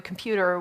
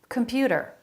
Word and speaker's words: computer: the telephone from the computer whatever they did with him computer computer they're all saying that with a flap computer a flap instead of a t sound computer computer middle syllable